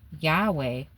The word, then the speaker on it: Yahweh: title for God the Jewish readers often spoke Adona out loud out of reverence instead of pronouncing the sacred name Yahweh, which is either the